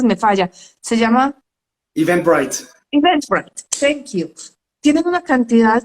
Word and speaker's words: Eventbrite: Hay páginas que, Ricardo, yo te pregunté cómo se pronunciaba porque es que mi inglés a veces me falla. Se llama... Eventbrite. Eventbrite, thank you.